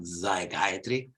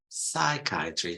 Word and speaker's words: psychiatry: psychology and Psychiatry okay remember Paulo the first is always voiceless not zygiatry Psychiatry snow a slip slide